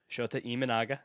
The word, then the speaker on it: Shota Imanaga: Shota Imanaga.